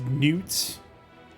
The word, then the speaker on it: Knuts: Like K-N-U-T. Yes. I believe that's pronounced newts.